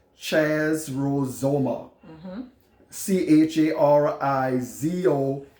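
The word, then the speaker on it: χαρίζομαι: way this word forgiving and the Greek is pronounced Chaz rules OMA CH AR i zo m AI and it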